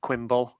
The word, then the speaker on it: QMBL: And a close nail-biting affair, which Quimble. I've been told by QMBL that I can call him Quimble, so I'm going to say Quimble.